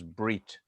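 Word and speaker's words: בְּרִית: You may not recognize this word berit. It's just another way of writing in English letters brit, which means covenant in Ashkenazi pronunciation, bris.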